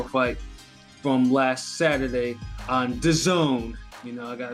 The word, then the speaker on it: DAZN: Starting off with Alexander Povetkin versus Anthony Joshua fight from last Saturday on DAZN. You know, I got to make sure I pronounce that correctly. Not DAZN or DAZN or whatever. It's DAZN.